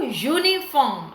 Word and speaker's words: uniform: wear every day so uniform again the sound it starts with is you so consonant sound we